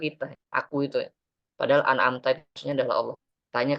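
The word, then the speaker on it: أنعمت: Baca alhamdu dan an'amta jangan sampai ada qalqalah. Ya sini sering terjadi nih. Alhamdulillah an'amta gitu ya. Oh ya, kalau bacanya an'amtu itu nanti bisa diimam keliru nih. Bacaan an'amtu. Itu makmum gak ada yang benerin maka sholatnya itu gak sah ya. An'amtu nanti kacau itu maknanya.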